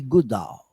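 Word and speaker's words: Goodall: te chamar também de missionária Jane Duval Goodudal pronunciando certo Valerry Jane Goodal.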